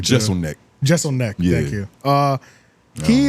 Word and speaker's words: Jeselnik: Anthony Jeselnik. I think I said it right. Jeselnik.